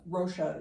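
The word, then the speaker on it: Rocha: Obviously, Brazilian Portuguese would be different, but uh Rosha, it's a softer sound.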